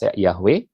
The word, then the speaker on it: Yahweh: Dari huruf-huruf ini menjadi untuk Arab seperti ini, untuk Latin seperti ini, bahasa Indonesia bacanya jadi Yahweh, tapi kalau bahasa Inggris, bacanya juga tetap mirip Yahweh, ya.